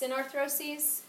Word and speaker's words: synarthrosis: this chapter the three functional classifications this is pronounced synarthrosis this is empty arthrosis diarthrosis if it has